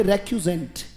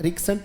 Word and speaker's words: recusant: उसका, बोलना पड़ेगा, बोले रेक्यूजेंट, शाबाश, बोले रेक्यूजेंट, RECUSANT। क्या पढ़ा जाएगा बेटा? कुछ लोग इसका उच्चारण गलत करते हैं, रिक्सेंट रिक्सेंट करते हैं, इट्स रेक्यू, राइट, बोले रेक्यूजेंट।